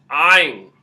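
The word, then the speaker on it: ع: Next we have, which is a letter that does not exist in English whatsoever. And that letter is Ain. Ain. It comes from the throat.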